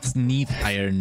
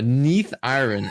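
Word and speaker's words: Neathiron: while we playing huh yeah it's Neath iron M this is not nefarian from Black Wing oh Neath iron excuse me excuse my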